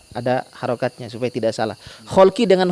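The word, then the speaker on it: خَلْق: Kholki dengan khuluki itu beda harokat saja, hurufnya sama. Kho, lam, qaf dan ya nisbah terakhirnya. Kholki dengan khuluki, hurufnya sama tapi beda harokat, beda Kalau kholkun itu artinya penciptaan.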